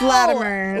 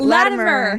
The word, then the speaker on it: Latimer: Did I say it right or is that too Russian for you? It's a little Russian. No! It's Latimer. Latimer. Yeah, softy.